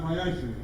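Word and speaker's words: מעשר: You can find this in Numbers 18 and 21 and Malachi 3 and 8 through 10, meaning 10th in Hebrew, and it's pronounced Ma'asher.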